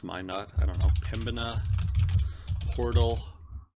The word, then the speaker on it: Minot: I think it's pronounced Minot, I don't know.